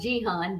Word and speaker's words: Jahan: my middle name Jahan, which is actually pronounced Jihan, but we gonna go with how we do.